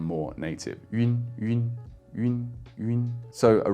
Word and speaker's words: yun: Now the best way to make this sound like a native speaker is to imagine that it's spelt slightly differently. Imagine that it's spelt Y-U-E-E-N, yun, yun. You don't have to do the E so strongly, nor do you have to smile or anything like that, but that slight tweak to it, having a